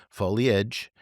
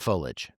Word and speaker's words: foliage: And I do love that the Merriam-Webster dictionary there's two ways to pronounce foliage and foliage, both of them. So the second way is the way that I say it. And it is not incorrect if you go to the Merriam-Webster dictionary and you put in how to say it.